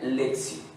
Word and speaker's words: lectio: se pronuncia leaks y aunque se escribe lectio se pronuncia lección la lección divina qué